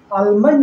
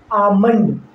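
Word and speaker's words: almond: बोलेंगे बाम मतलब मरहम अब आलमंड आलमंड नहीं आमंड यहां एल के बाद एम है इसलिए इस एल का उच्चारण नहीं होगा इस अमन का मतलब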